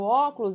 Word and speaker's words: óculos: é a antepenúltima então no óculos quando a gente separa o óculos é o óculos então é ver ó tá ali ó antepenúltimo então é proparoxítona é elétrico então quando